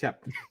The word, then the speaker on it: Hep: His is not Hef, it's Hep.